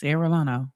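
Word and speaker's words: Arellano: It's Eolano. Okay. Ereano.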